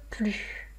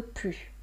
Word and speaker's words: plus: Donc là, mémorisez que dans la situation d'une négation ne plus, on ne prononce pas le S. Je n'en veux plus. Je n'en veux plus. J'ai assez mangé, je n'en veux plus.